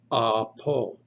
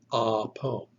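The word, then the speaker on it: ἀπό: three letters, alpha, B, omicron, spell the word apo, apo. The alpha, the first letter, is pronounced ah.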